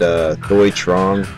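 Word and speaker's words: Thuy Trang: The sequel, Crow, City of Angels, starring Iggy Pop and Thomas Jane and Thoi Trong, that's how you pronounce it, the Yellow Ranger.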